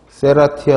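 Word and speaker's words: Serratia: 인제 그런게 이것도 잘라 세라 티 아 쎄라 티아 라고 읽으면 가장 좋겠는데 적색 색소 잘 나오는데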